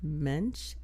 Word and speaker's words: Mensch: And do you know you can Google Mensch, M-E-N-S-C-H. The S is silent.